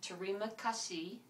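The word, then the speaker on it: terima kasih: hello is pronounced aaar thank you is pronounced TMA Casi my name is pronounced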